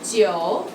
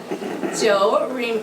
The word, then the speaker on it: 九: And 九. One more time, I didn't hear that. 九 rhymes with forever.